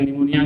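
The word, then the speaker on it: pneumoniae: निमोनिया, निमोनिया होता है Streptococcus निमोनी, Streptococcus, P silent है यहाँ पे, तो Streptococcus निमोनी and Haemophilus influenza.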